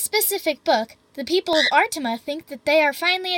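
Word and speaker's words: Artimé: He and a few hundred other people live in a magical land called Artime. Artima, I mean, because of that little accent on the E, where they stay in a giant magical mansion with about 20 or 30 living statues.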